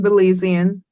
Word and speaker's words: Belizean: Yes, I'm Belizean.